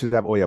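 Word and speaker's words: olla: but it's not normal but like with the Oya pot it's spelled o for anyone who's wondering it's O Spanish uh pronunciation Oya but what I would do in your environment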